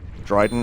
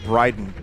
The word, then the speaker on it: Brydon: That's, it's a comedian from England, Rob Dryden. I always get his name wrong.